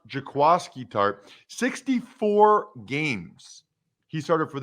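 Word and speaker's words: Jaquiski Tartt: and there's no way you would know this it's jaquasky tart i mean if you spell it and asked a hundred people they would sit 99 would say it's jaquisky tart but evidently it's pronounced jakwaski tarp 64 games he started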